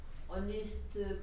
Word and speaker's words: honest: 어를 쓰는 거는 맞는데 그 뒤에 단어 어니스트 단어는 H 발음이 없죠. 네. O로 발음하기 때문에 언이에요.